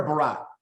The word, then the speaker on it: Barrett: say your last name is it Baron or Barat uh just barrage is fine okay all right we